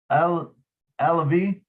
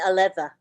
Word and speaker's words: Aleva: Jeannie Alavi? No. How do you say that, Lynn? Jean Aleva.